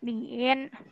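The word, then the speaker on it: 您: Yang ini ada bacanya. Ni. Yang ini adalah Niin.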